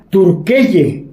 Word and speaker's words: Türkiye: Turquía, en turco antiguo, se pronuncia Turkeye. Turk significa fuerte y elle, persona o pueblo.